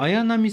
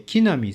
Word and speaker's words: 綾波: この、綾波さんと玉星さんという読み方ですが、そのまま読んで木並さん、グーナさんでも良かった